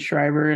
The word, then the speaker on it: Schreiber: Julie s because my last name is shriber and nobody can pronounce it or spell it so it